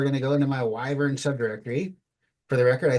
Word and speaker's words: wyvern: I found out was pronounced wyvern and not wyvern when I was watching The Witcher geralt of Rivia himself right Henry Caville said wyvern and I was like oh I've been pronouncing it wrong for 25 years okay here we go